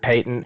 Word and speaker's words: patent: Uh, I think I've heard that it's the uh whether you go the British pronunciation or the American pronunciation.